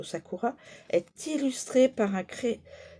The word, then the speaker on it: Sakura: La carte du Satur du Sakura Sakura je le prononcerai plutôt Sakura est illustré par un cré cerisier à fleurs du Japon.